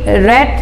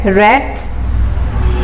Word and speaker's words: read: cut hit hit hit let let let read red red shut shut shut up another foreign is pronounced as read in its past and past